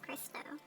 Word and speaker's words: Crysto: It rhymes with Cristo.